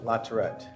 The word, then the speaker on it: Latourette: up here too please state your name and spell it for the record uh Lieutenant larette spelled larette l